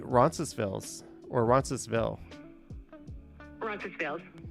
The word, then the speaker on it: Roncesvalles: Roncesvalles.